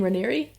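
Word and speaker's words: Raniere: but HEC name reri he pronounces his last name reri I I'm I've heard it as reri um in prep for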